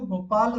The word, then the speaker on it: गोपालः: और जब हम विसर्ग को उच्चारण करेंगे वो ह जैसा उच्चारित होगा, जैसे कि गोपालः।